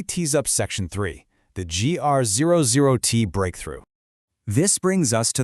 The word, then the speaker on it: GR00T: GR00T, and yes, it is playfully pronounced exactly like the giant tree character from Marvel, stands for Generalist Robot 00 Technology.